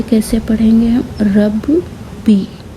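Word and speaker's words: رَبِّي: तो ये कैसे पढ़ेंगे हम, रब बी। तो अगर तीनों को एक साथ मिलाकर हम पढ़ेंगे तो ये हो जाएगा रब्बी। तो आप इसे प्रोनाउंस करेंगे रब्बी। इसे डबल पढ़ना पड़ेगा।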